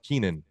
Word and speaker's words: Keenan: just because I know the guy is pronounced Keenan not Kenya we were saying Canyon oh yeah I only